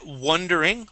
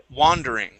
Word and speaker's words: wandering: this word here uh you would said wondering w and that would be spelled wo when you have an A there this is W wandering wandering okay one more time